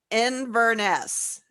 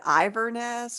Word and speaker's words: Inverness: well i did because i was the one that pronoun mispronounced it inverness inverness is where that lake is um not what did you call it i think i said iverness or i i don't know what i said but as soon as